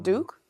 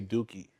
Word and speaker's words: Duque: No, Duke. Cuz it's Duke in Spanish.